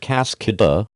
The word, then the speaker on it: Cascada: The company is trying to do the same thing for the 2016 Buick Cascada, pronounced Cascada, waterfall in Spanish, a truly international four-seat convertible.